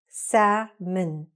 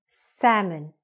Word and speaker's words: salmon: So for example, sa-min, min, okay? Say it really short. Good. Hamburger. Again, hamburger. Okay, the stress is on the first part. Hamburger. Again, gr, very fast. Again, hamburger. Salmon.